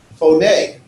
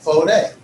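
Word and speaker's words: φωνή: Phone is my accent on the syllable. It's not on the fo, it's on the ne. Phone.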